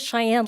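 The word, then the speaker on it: Shyan: So my name is Cheyenne, but it's not spelled like Cheyenne, Wyoming. So it's S-H-Y-A-N.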